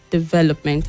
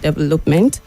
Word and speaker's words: development: well done then Christine the word is development the stresses on the second syllable development and not development and then the people